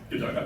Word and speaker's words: Godot: Godot, okay, cool. I've been pronouncing it all the time.